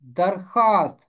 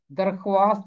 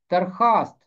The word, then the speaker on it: درخواست: کیا۔ درخواست، یہ بھی فارسی زبان کا لفظ ہے، اور اس کا تلفظ ہے درخواست، درخواست نہیں، درخواست۔ خانچہ فروش، خانچہ فروش،